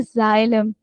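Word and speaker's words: xylem: एक्स आ जाता है तो उसकी साउंड हमेशा जेड की साउंड की तरह होती है। जी पढ़ते हैं उसको। जैसे इसको पढ़ते हैं जाइलम। ठीक है? जाइलोफोन, जाइनोफोबिया। ठीक है? तो ये वाले वो वाले आपके वर्ड्स हैं जिसमें आप इसको जेड की साउंड देते हैं।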